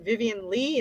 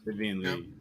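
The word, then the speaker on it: Vivien Leigh: Vivian Lee? Is that how you say her name? Yeah. Vivian Lee.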